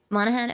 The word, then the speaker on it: Monaghan: I have the honor to be your obedient servant, Higgs Monaghan. Is it Monaghan? Monaghan? I don't remember how to pronounce it. Oh, sorry, Neb. Monahan?